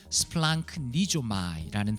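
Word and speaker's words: σπλαγχνίζομαι: 그 발음은 스플랑크니조마이라는 단어입니다.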